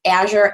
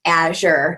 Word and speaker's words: Azure: Azure Active Directory and I do believe it's pronounced Asher its video here Azur and as you're in the industry but Asher is the one that you know Microsoft has told us so to just solve that mystery it's as your Active